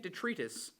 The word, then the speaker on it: detritus: I'm feeling fancy, sentient detritus, which is very hard to say when this has happened. And the pronunciation is detritus. Detritus. See, I say detritus, not detritus, because detritus sounds like a disease.